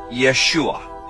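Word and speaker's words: ישוע: the name of Jesus Jesus's name is pronounced Yeshua in the Hebrew his name is formulated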